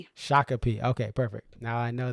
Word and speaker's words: Shakopee: Uh, it is pronounced Shakape. Shakape.